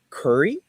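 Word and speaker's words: Khoury: Uh, his name was Peter Curry is the way it's pronounced.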